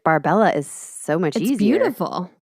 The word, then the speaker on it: Barbella: her by they call they say her last name wrong so in all of the newspaper she's known as barbell no no no not barbell Maria barbery barbery Barber I